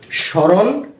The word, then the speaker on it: স্মরণ: আমরা প্রথমে নিয়মটা শিখেছিলাম যদি কোন শব্দের প্রথম বর্ণের সাথে ম ফলা ব্যবহৃত হয় সেক্ষেত্রে সেই বর্ণটি বা সেই ম ফলার উচ্চারণটা হবে না যেমন স্মরণ স্মৃতি শ্মশান এরপরের নিয়মটা